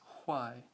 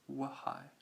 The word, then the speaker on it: why: Now, some people actually do pronounce this H as in Y, but that H sound really comes before the W and not after. It's why, not wahai.